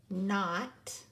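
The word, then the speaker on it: knot: kidman command right but the K is silent it is a ghost letter and so we don't hear it oh we cross it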